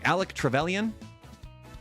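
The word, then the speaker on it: Alec Trevelyan: I always get the name wrong. Alec Trallion.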